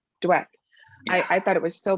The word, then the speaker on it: Dweck: to get the carol dwick one about um am i saying her name wrong what is it yeah dweck dweck i thought it was